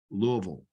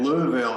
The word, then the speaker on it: Louisville: so yeah that that Louisville it's interesting it's almost like the accent is on the first part of the word the Lou and then